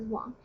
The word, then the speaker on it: 王: It's a character by itself called Wang, pronounced as Wang.